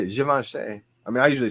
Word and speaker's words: Givenchy: Givenchy. I mean, that's how you say it. Givenchy. I mean, I usually say Givenchy, but like, guys, appreciate you, December.